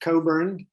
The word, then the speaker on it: Cockburn: just make sure that my name is pronounced coburn in a good scottish way you could be right